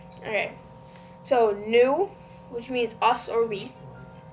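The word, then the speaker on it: nous: So new Okay. So new which means us or we. So the o u is a combination of u and then s is silent.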